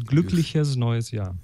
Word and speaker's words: glückliches neues Jahr: Germans are very soft on that, so it's glückliches neues Jahr.